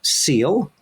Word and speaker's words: SEAL: emotional academic learning and that's an acronym that is pronounced seal at Denver public schools